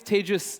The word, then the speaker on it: Tejas: My name is Tejas. That's pronounced like contagious.